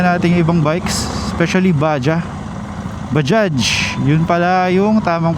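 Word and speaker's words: Bajaj: Nasubukan natinung ibang bikes espcially Baja Bajage. Yun pala yung tamang pronunciation.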